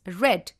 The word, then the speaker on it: read: the case of read the past form of read is red though you will be spelling it as r e a d it has to be pronounced as read only and not read we can use auxiliaries